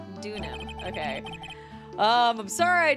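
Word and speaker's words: Deauxnim: it okay Alise duk I feel like okay the x is silent dunam dunam okay um I'm sorry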